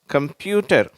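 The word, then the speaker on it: computer: ஒன்னு next கம்ப்யூட்டர் சரியா கம்ப்யூட்டர் அந்த கம்ப்யூட்டர் அப்படின்னு இந்த இடத்தை கொஞ்சம் அழுத்தி உச்சரிக்கிறோம் இந்த கம்ப்யூட்டர் அப்படின்னு அதுக்குதான்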